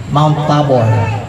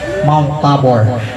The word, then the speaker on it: Mount Tabor: Mount Tabor. Tama ba bigkas ko? Mount Tabor.